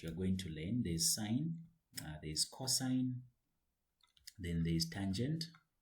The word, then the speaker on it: sin: There's sine, there's cosine, then there's tangent. That's what you have. The shortcut of sine is, it's written like sin, but we pronounce it as sine.